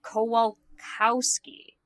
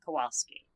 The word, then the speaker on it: Kowalkowski: Also, I just realized I pronounced his name wrong. Sorry, Mr. Kowalkowski, not Kowalski.